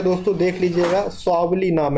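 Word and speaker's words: Swally: ठीक है, स्वावली, प्रोनाउंसिएशन में थोड़ा मिस्टेक है दोस्तों, देख लीजिएगा, स्वावली नाम है।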